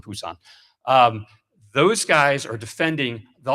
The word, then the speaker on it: Busan: Back then, we pronounced it Busousan. Little change of pronunciation. Busousan Busan.